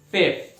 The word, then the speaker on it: fifth: Fifth. Esse é um pouquinho mais difícil ainda, né? Fazer o F com o TH. Fifth. Fifth. É o F mais o TH.